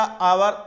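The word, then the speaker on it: hour: जैसे एन आवर, एन आवर लिखा गया यच से, लेकिन पढ़ा जाएगा आवर, आ उच्चारण क्या हो रहा, आ हो रहा, अर्थात स्वर हो रहा है।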